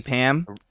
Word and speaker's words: Pam: happy uh yeah um AKA Pam pants her name rhyme with ram yeah I know Beecher